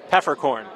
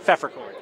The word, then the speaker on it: Pfefferkorn: And you pronounce it Peppercorn, not Pfefferkorn. Nope, Peppercorn.